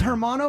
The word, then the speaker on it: hermano: as heath ledger is hermano brother so the h is silent a bit yeah okay so if